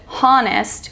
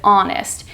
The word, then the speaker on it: honest: e RB and honest we don't pronounce it honest we pronounce it honest h o n e s t in other